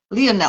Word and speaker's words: Lionel: have Karen in Gemini people pronounce his name line Leonel I would say because he's not English from English now yeah